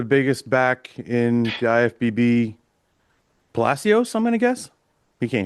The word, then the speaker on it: Palacios: how do you say Yeah, your Palacios. It's like Pala with a C.